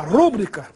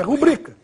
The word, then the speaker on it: rubrica: Muita gente fala rúbrica, mas oficialmente essa palavra é paroxítona, ou seja, a pronúncia oficial é rubrica.